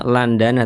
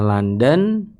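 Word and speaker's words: لندن: Zurtu London tulisannya Landana tapi bacanya London ditulisnya Landana.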